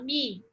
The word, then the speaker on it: me: São eles, o me, aqui ó, que a gente fala mi, né?